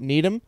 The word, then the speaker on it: Needham: that's good to know i think it's literally need pronounced need him i think it's needham it's literally spelled n-e-e-d-h-a-m the man needs me he needs ham right so he he